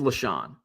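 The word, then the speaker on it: LeSean: It is LaShawn. Not spelled the same, but we would give LaShawn.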